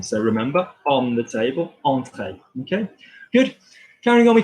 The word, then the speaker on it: entrée: Okay, so if I had, for example, entrée, to enter, that's an en. So remember, on the table, entrée.